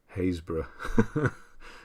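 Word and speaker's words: Happisburgh: as well yeah um a place in norfolk that is spelled happiestburg haysbrough naturally why wouldn't you um yeah there's a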